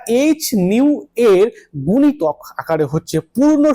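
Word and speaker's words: ν: আমি একে উচ্চারণ করলাম নিউ দিয়ে। তাই না? একে আমি উচ্চারণ করছি নিউ দিয়ে।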